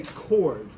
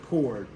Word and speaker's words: chord: this one called good and it's spelled unusually it's spelled chord but everybody say chord everybody say it say chord so it's it